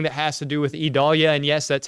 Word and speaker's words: Idalia: anything and everything that has to do with idalia and yes that's how you say that E Dahlia that's e e is the pronunciation guide so e doll yeah uh for